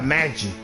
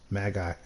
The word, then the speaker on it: Magi: at it's pronounced Magie oh I think it's pronounced Magie Magie trials mag guy how how often did I say mag guy trials Wow Let's pronounce Magi Magi Magi Magi Magi Magi Magi Magi Magi Magi Magi let me make sure manie they just